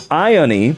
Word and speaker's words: Ione: Ione is how her name is pronounced. Ione?